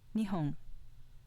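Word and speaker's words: 二本: compare sake example five nihong meaning two sticks of with an accent on the first mora nihong meaning japan was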